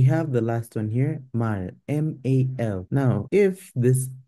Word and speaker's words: 말: It takes on an L sound. It does not take on an R sound. You cannot pronounce this as mar. Mar. It's mar. Mal.